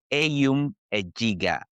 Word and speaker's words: Eyum Ejiga: So, I'm here with me I have here with me Ayom Adegah. Did I pronounce that right?